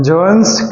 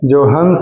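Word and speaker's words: Johannes: ह का उच्चारण पूरा नहीं करेंगे। जोहन्स हो जाएगा नहीं तो फिर। जॉइंस केप्लर ऐसा बोलना जैसे कि ह का भी उच्चारण हो लेकिन पूरा तरीके से नहीं।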